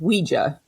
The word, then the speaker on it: Ouija: the Hasbro rules apparently Ouija or it is pronounced Ouija because they specify that Ouija for me sorry